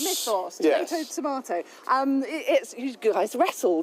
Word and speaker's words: Mythos: Mythos. Mythos.